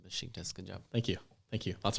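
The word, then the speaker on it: Beşiktaş: nice pronunciation with the sh in Besiktas.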